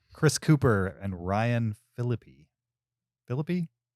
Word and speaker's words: Phillippe: cooper and ryan phillippi philippe how you say it yeah felipe it's not felipe no ryan phillippe laura linney and other